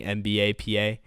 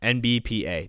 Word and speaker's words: NBPA: is what it is, we were still saying it wrong. We were saying NBAPA. I don't know what was going on there, but yeah, NBPA.